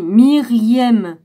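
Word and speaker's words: Meriem: dispute des avait emporté marième marième ou mariam écoutez moi je sais pas mir-1 y eu m normalement on dit myriem voilà myriem nos mamans de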